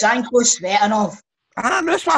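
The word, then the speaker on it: Tsanko Tsvetanov: Shanko Sheshnov. Can you stop that, by the way? How do you pronounce it? Embarrassing him. It's Shanko Svetanov.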